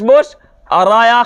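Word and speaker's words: بشریٰ: राया खरा जबर रा बुशरा य खरा जबर है ये अलिफ नहीं है ठीक है खरा जबर है बुशरा या तो लिखा गया लेकिन पढ़ा नहीं गया वो साइलेंट है ठीक इसी तरह से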